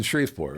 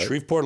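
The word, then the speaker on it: Shreveport: Was in Shrefport, right? Shripport, Louisiana, which sounds like a kind of a a dopey place for this.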